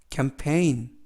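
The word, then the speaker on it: campaign: 뜻은 서명하다 라는 뜻이구요 쓰이는 크 a 는 a 에 때문 부 피는 프 그리고 ai 는 이중모음 으로서 a 주인은 묵음 이고요 애는 느 그래서 캠페인 캠페인 이라고 발음합니다 뜻은 캠페인 이라는 뜻이고요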